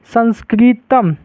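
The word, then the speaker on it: संस्कृतम्: जैसे इसको पढ़ेंगे तो क्या होगा, इसको संस्कृत, संस्कृतम, संस्कृतम, तो इसको हम क्या लिखेंगे, इसको लिखेंगे संस्कृतम, ऐसे हम लिख सकते हैं इसको, ठीक है। लास्ट में इसका उच्चारण क्या आ गया, म आ गया, ठीक है ना, समझ गए।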